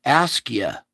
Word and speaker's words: Askja: Askja. That J is a Y. It's Askia. Ask you how to pronounce it.